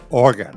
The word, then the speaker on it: Oregon: Oregon, right.